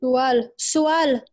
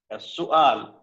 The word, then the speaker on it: سؤال: It's سؤال. سؤال.